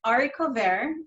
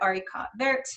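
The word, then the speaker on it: haricots verts: of our entrees and it was the number one mispronounced thing on the menu so we all as employees would laugh at the mispronunciation so we'd get arikatvert and harry cot bearson so ari cover is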